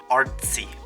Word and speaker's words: Artsy: The set is said in a German way. And if you don't know how Germans say the zed, they say a ts sound.